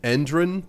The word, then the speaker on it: Endron: They pronounce it Endron to try and make adding a single letter to Enron a little less blatant, but that is what the company is called in the source material.